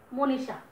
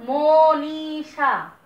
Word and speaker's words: মনীষা: দীর্ঘইর কোনো উচ্চারণ বাংলা ভাষায় নাই, আমরা করি না, সেই দীর্ঘইটা হয়ে যাবে হ্রস্বইকার। এবং মূর্ধন্যস্বর উচ্চারণও আমরা করি না, আমরা মূর্ধন্যস্বটাকে 99% ক্ষেত্রে তালব্যস্যর মতো উচ্চারণ করি, এটা হয়ে যাবে তালব্যস্য আকার।